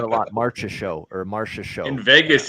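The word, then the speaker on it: Marchessault: I hear that a lot March's show or Marsha show in Vegas it's the market show yeah John Marshall yeah yeah yeah at least none of that is better as bad as Don Cherry's pronunciation John massarole yeah yeah oh no that's even I know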